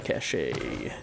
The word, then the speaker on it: cache: Supply cache. I know it's pronounced cache.